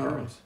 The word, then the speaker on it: macaroons: Why do I keep saying that wrong? You are saying it right. Macaroons. Coconut macaroons. I know, and then macarons is the French version of them.